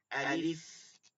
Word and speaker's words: আলিফ: আলিফ, শেষে ফয়ের উচ্চারণ হবে।